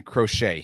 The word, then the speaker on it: Crochet: Yeah, crochet is how you say it. And it's like what your grandma does.